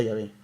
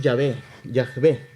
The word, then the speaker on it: Yahvé: que esta palabra es Yahvé. Así se pronuncia, ¿verdad? Yahvé creo que se pronuncia.